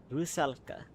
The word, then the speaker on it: Rusalka: How do you spell it? Oh, actually, okay, I got close. It's a Rusalka.